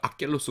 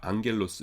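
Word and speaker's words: ἄγγελος: 그러니까 기억 요런 계통의 스펠링이 두 개가 겹쳐 나올 적에는 앞에 거를 이응으로 바꾼다는 거 아시죠? 대표적인 게 뭐였어요? 안겔로스죠. 안겔로스. 감마잖아요. 그러니까 기억기억에서 악겔로스 그럴 것 같은데 그게 아니라 앙겔로스 이렇게 된다고요.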